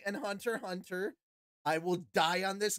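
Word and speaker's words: Hunter × Hunter: the same thing it's Hunter Hunter you don't say Hunter x Hunter you sound like an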